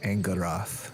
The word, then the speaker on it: Angarath: It's pronounced Angarath. Sorry, I said it wrong.